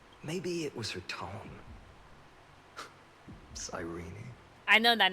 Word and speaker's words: Cyrene: That is clearly Siren. Or Cyrene. That E is silence. You don't pronounce it. Cyrene. Siren. That's Siren. That E is silent.